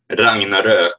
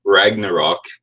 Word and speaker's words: Ragnarök: For Ragnarök, or Ragnarok, but we here in Scandinavia can actually pronounce the real word.